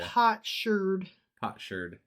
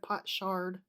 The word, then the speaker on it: potsherd: Potsherd. Instead of pot shard.